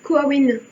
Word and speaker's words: Coamhain: On l'appelle aussi Coawin dans certaines peuplades gaéliques, qui s'écrit Coamhain en référence donc à Samhain.